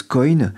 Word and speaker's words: coin: Prononcé à l'anglaise, coin, cela signifie une pièce de monnaie.